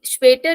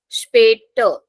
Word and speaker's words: später: So see, später is an exception. So although it is starting from S, but we'll not pronounce it as Z. We are saying später. So sure pronunciation is there. Bis später. Or you don't have to emphasize on the letter R. I'm not saying später. I'm just saying später. So R has a very slight pronunciation.